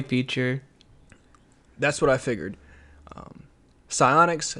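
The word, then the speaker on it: Psyonix: future is getting closer with the news of Siphonic's Rocket League. I gotta send you a list of games and publishers and developers and teach you how to pronounce them. Psionics.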